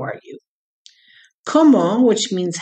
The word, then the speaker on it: comment: expression how are you como which means how is spelled like comment c-o-m-m-e-n-t but the final t is silence so if you say